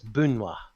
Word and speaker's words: Banwa: That's why I have not been saying Banwa, because in the pronunciation guide, it's shown as Bunwa.